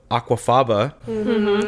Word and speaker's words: aquafaba: So like the fact that they're able to put aquafaba, I said it right?